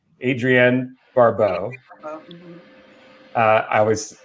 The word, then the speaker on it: Adrienne Barbeau: movie and uh he actually cast his wife adriana barbeau adrienne barbeau uh i always mispronounced that name uh as the lead character